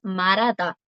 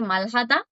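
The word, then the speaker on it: 말하다: La pronunciación ideal, chicas, es marada. o la regla que habíamos visto, que la J cuando está arriba siempre suena, pero si justo detrás en la misma palabra tiene un batim que es una consonante, el sonido por lo general continúa. Es una regla del coreano estándar de la pronunciación de Seú, marada. Marada. Puede que escuchen coreanos de otras partes de Corea decir malhada. Igual se entiende, o sea,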